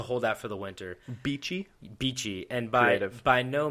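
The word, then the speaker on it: Beechey: So, by early 1846, they were about halfway through the icy archipelago when they decided to stop at Beachy Island uh to hold out for the winter. Beachy.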